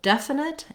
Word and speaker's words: definite: Both definite and definitely have first syllable stress. So the def syllable is long and has the clear vowel. In this case, the letter E says the eh vowel, like in red tent.